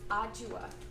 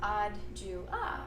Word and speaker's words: Adjoa: So my is actually pronounced Adjoa, which is, if you think Adjoa, but she's not Jewish.